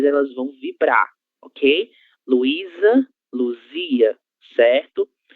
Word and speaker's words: Luzia: Luísa, Luzia, Luísa, Luzia, certo? É diferente da palavra Luísa, Luísa, Luísa, Luísa. E neste caso temos a letra Z, então ela deve ser pronunciada com o som Z, Luísa e Luzia.